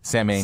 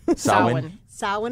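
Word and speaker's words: Samhain: know the god Sammy named him Sam which were bris pronouncing apparently first of all it's a mispronunciation and second of all he wasn't a god it's a holiday right okay soand I saw one is the correct pronunciation and it's this season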